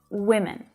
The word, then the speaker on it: women: the phic script that that first syllable is the stressed one you can see it